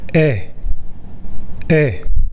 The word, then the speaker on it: ㅐ: “tree” “tree” “ree” “ree” “ee” “ee” “ㅐ” and “ㅔ” look different, but sound the same. their sounds are similar to “eh” sound from “egg”. “egg” “egg” “eh” “eh” Alright, by far, we’ve been through how to pronounce simple vowels easily.